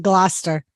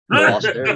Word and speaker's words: Gloucester: Digger, because you said Gloucester. Gloucester, yes. Yeah. Like I said, I did. I learned how to pronunciate the towns the Yeah.